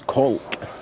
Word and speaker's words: Caulk: Now it's spelt both as a cork in a bottle, yeah, and also as Cork, C-A-U-L-K, which is probably pronounced Cork.